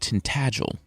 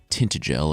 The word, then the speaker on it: Tintagel: Also, I've been told that the place King Arthur was conceived is actually pronounced Tintagel, not Tintagel or whatever I've been saying.